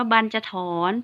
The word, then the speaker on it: บรรจถรณ์: ว่า บรรจถรณ์ นัก เรียน คำ นี้ อ่าน ว่า บรรจถรณ์ แปล ว่า ที่ นอน